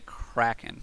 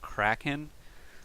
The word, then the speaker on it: Kraken: Okay, Kraken. Or is it Kraken? I always pronounce it Kraken, like Liam Neeson in that Greek mythology, which was probably not accurate, but I didn't really see it as something.